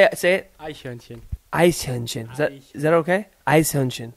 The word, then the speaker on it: Eichhörnchen: Eichhörnchen. Eichhörnchen. Is that okay? Eichhörnchen. You say ice cream hörnchen.